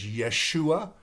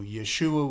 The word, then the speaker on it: Yeshua: Uh his his name in Hebrew is Yeshua, which is the same name of Jesus. Jesus is the Greek version of Yeshua. So Yeshua would be the Hebrew uh pronunciation of his name.